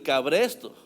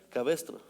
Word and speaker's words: cabestro: le llegaron a dar con el cabresto. Cabestro, ¿cómo se dice? Cabestro.